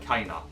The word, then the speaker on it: Kena: a dearer mind you kenna's name looks like kenner to me but it's like kana in this game so i guess it's just pronounced differently but spelt the same yeah i'm gonna have